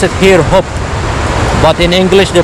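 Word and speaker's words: Höfn: a city called open open h-o-f-n but they pronounce it here hope but in english they pronounce it often so it's confusing you know anyway so i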